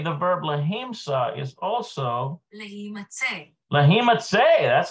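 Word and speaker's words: להימצא: Okay, the verb lahimsa is also lahimatse. That's how you pronounce it.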